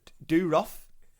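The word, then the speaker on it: Dorough: and one of their members i'm gonna definitely pronounce this wrong shoei he is do rough d-o-r-o-u-g hitch yes um so apparently when they're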